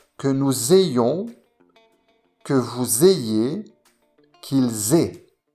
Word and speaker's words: ayons: Attention à la prononciation, que nous ayons, que vous ayez, qu'ils aient.